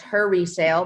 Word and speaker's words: he_resale: HE_resale, RESALE, pronounced her resale, but when I made